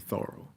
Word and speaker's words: Thoreau: you know influenced by henry david thoreau that's the way he pronounced it thorough and incidentally now they